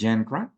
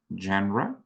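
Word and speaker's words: genre: have two different words the first one is genra genra it's called It's pronounced genra and the second one is gender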